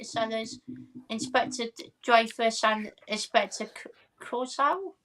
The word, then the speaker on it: Clouseau: We got Nigel and Carlos saying Nigel Herbert Lom loves Peter Sellers, Inspector Dreyfus, and Inspector Clouseau. Is that how you pronounce that? Clouseau. Oh, Clouseau, sorry.